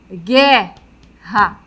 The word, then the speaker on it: guerra: O mesmo acontece aqui, ó. Ó, queijo, guerra. Então, aqui nesse campo, nós temos o dígrafo.